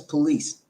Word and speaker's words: Pullease: The guy's last name is Pullease. And he's a police officer, but it's spelled differently.